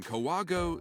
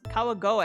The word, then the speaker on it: Kawagoe: I was born in Kawago, Saitama. That is not how you pronounce that. It's Kawagoe, I would think.